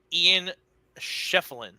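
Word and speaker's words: Ian Schieffelin: It's Ian Sheffield, because I think he's going to do work on Cooper Flag tomorrow.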